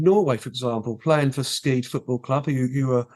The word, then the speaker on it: Skeid: It's pronounced Skeid.